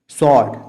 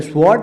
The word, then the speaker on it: sword: सॉर्ड, तलवार है नहीं, सॉर्ड, इसे SWORD लिखा जाता है पर पढ़ा जाता है सॉर्ड, डब्लू साइलेंट होता है, इसे स्वॉर्ड नहीं कह सकते, सॉर्ड।